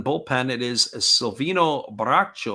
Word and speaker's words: Bracho: it is a salvino bracho or bracho as they would say his name a big Lefty who